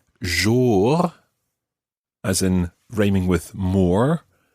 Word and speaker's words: jour: What we need to try and make sure is that that second syllable sounds very much like jour. Jour. Watch the vowel sound that you make there.